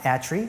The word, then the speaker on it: ETRI: are our institution is called a tree it's pronounced a tree and it has 40 years of history in